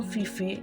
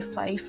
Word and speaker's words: Fife: So Ross says that I come from Fife. You can pronounce it either way, Fife or Fife, it does not matter.